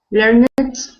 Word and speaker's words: learned: Learned. That is pronounced learned.